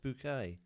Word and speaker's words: Bucket: the main characters are snobbish hello middle class social climber named hyacinth bucket played by patricia rutledge who insists her surname is pronounced bouquet the show comprises five